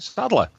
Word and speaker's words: Sadler: Do I always say that wrong, Sadler? How do you say it? No, that's right, Sadler.